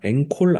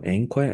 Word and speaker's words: anchor: 자, 16번에 앵콜 아니고 앵커야 앵커. 그래서 종합사회자라고 나와 있는 게 뭐냐면은 우리 TV 앵커, TV 진행하는 사람 그거 얘기하는 거거든. 그래서 앵커, CH가 여기서 키역 발음 납니다.